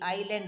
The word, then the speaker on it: island: Island, island. You have to pronounce as island.